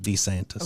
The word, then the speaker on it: DeSantis: I'm sorry, Ron DeSantis. That's how you pronounce it, DeSantis.